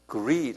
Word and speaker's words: greed: greed 한번 발음해 보세요. L이 아니라 R이에요. greed.